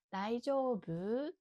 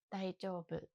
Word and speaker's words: 大丈夫: ただちょっと難しいのが質問も大丈夫、答えも大丈夫。イントネーションだけが違います。質問する時は areユオケって聞きたい時は大丈夫。後ろが上に上がります。で、答える時 OK の大丈夫と言いたい時は大丈夫。イントネーションは上がりません。